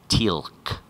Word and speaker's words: Teal'c: And the people at the audition were saying, it's pronounced Teal'c.